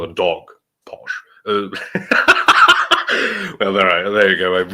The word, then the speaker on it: Posh: Oh, Bobby C with 5 USD says, hello, Porsche, or Posh, which is how Americans say it, Posh. Which is why Andrew, and I still have not forgiven him for this, twice confused me, or at least my name, with Vosh, because it's Posh and Vash, and I